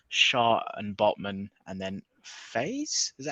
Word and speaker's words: Faes: Lissandro Martinez, Gabriel, Shaw and Botman, and then Faze. Is that how you pronounce Yeah, his the name from Leicester player, Leicester? yeah, Wout Faes, yeah.